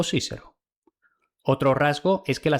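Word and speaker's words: Cicero: Y el del más famoso orador Quiquero, Cícero o Cícero.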